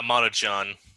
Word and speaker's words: Maruchan: So the Maruchan, the brand here, and I think that's how you pronounce it, Maruchan? Yeah, Maruchan. Maruchan.